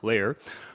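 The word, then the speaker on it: Layar: an exciting new technology what you do and that's spelled l-a-y-a-r layer what you do is you take your smartphone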